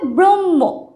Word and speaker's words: ব্রহ্ম: ম উচ্চারণটা কি হবে ব্রহ্ম ব্রহ্ম এখানে কিন্তু হ থাকলেও ম এর উচ্চারণটাই কিন্তু অনেকটা বেশি মানে যখন আমরা উচ্চারণ করব